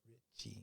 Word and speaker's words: Ricci: ricci is guinda richie i know how it's spelled but she pronounces it richie well she's pronouncing her